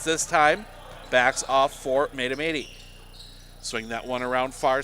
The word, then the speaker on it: Mahtomedi: And thank you to Sports World for correcting my pronunciation. Mahtomedi.